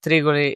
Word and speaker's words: Tregole: And that's why the name of Tregole, it's pronunciated not in a Latin way, but the meaning is of a hill with 3 tiny valleys around.